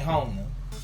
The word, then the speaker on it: Jona: Actually, I think my favorite, pertaining to just like connecting to the song, would probably be Hona. Okay. That's how you say it. Okay. Hona.